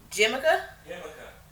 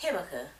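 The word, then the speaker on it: jícama: of a large Jamaica, I don't know how you say it. Jamaica? Himaka? Yeah. Oh, it's pronounced Himaka, as the hubs just told me.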